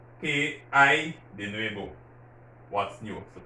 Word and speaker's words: hay: Listen to my pronunciation of I, because in Spanish, that H is silent. So it's just like you're pronouncing AY. ¿Qué hay de nuevo?